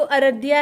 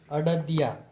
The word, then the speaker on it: अड़दिया: और ये है र नहीं है, ड है, अड़दिया। अरे भाई ये गुजराती प्रोनाउंसिएशन क्या है, अड़दिया, अरदिया नहीं बोल सकते। र नहीं, ड।